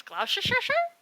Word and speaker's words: Gloucestershire: he's like, it's Gloucester, and I'm like, it's Gloucestershire, it's Gloucester, it's Gloucester, it's Gloucestershire, and he's like, it's Gloucester.